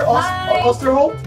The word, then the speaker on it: Oosterholt: Okay, so I'm with Jennifer Oosterholt. Yeah. You pronounced it right. Yeah. Oosterholt and Melissa Oosterholt.